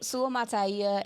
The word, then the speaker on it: Suamataia: Suamataia. There we go. I didn't want to get it wrong The today. BYU kid. The There we go. BYU kid. We just call him BYU kid. So Suamataia and Graham Barton are two names that I